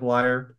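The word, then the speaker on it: lyre: it's a liar right the instrument sounds like liar it's a Lear it's a Lear okay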